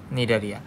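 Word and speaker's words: Cnidaria: এটির নাম হচ্ছে নিডারিয়া। সি দিয়ে শুরু হলেও এর উচ্চারণ নিডারিয়া।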